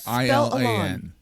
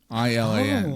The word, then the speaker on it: Ilan: I'm like, it's not Elon. It will never be Elon. It's Ilan. Ilan.